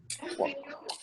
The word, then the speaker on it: walk: And walk. This is O. And walk. We don't pronounce L. You say and walk.